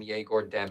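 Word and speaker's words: Egor Demin: Dude, I swear in college they pronounce his name Yegor Demon.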